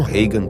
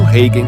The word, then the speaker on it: Hagen: Tom Hagen, ou Tom Hagen, para quem prefere a pronúncia original germânica, foi o braço direito de Vito Corleone, principalmente após a morte do antigo consigliere Genco.